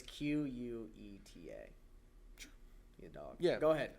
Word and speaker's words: Queta: It's Queta.